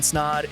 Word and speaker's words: Snod: My name is Snod. It rhymes with odd, and you're listening to the Rhymes with Odd podcast.